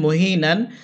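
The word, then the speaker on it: مهينا: আলিফ দুই সবর নেন মহিনান। এখানে অকফ চলে আসছে, আমরা এখানে অকফ করবো। অকফ করলে নুন একালিপটা আনতে হবে, উচ্চারণ হবে মহিনা।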